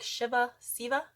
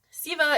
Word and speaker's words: Siva: a Hindu symbol, which, recalls Siva, like Shiva, Siva. I looked up on YouTube how to say it. So Siva, third eye, which represents wisdom and the path to perfection. So Siva is a deity, that's how you say it.